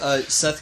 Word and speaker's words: Set: And by the way, Seth can also be called Set, of course. Ra can also be called Ray as well. I've heard it pronounced both ways.